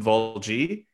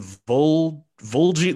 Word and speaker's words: Valji: So instead of saying like Salim Valji, I think they said like Salim Volji. They put like they mispronounced like his last name or something. So instead of like Valji, they were like Volji or something.